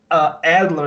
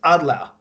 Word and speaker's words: Adler: definitely not coincidence, because it is not Adler, it's Adler in how can I say, German pronunciation.